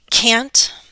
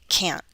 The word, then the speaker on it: can't: with another modal verb then can't and with the glottal stop can't this is one of